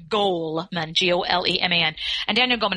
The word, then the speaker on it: Goleman: OU le ma n so it's not gold its goal man gol emea and daniel